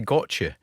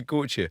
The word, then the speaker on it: Gotye: brilliant stuff right I I think my pronunciation was wrong I've been saying go but you say goche well I've never heard